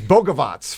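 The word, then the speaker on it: Bogavac: And it's Boavots for people want to know how to pronounce the last name.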